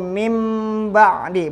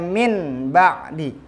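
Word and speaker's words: مِنْ بَعْدِ: Cara membacanya yaitu mim ba'di, bukannya min ba'di.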